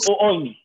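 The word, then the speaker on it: ⲟⲩⲱⲓⲛⲓ: اوني يعني النور، نور، او ويني، طبعا احنا ايه، هو طبعا متعرف عليها بنقول او اويني، بس لو اتبعنا قواعد النطق صح، دي اوميكرون ابسلون وراها اوميجا، تبقى او ويني، ويني، اوكي، يبقى هتاخد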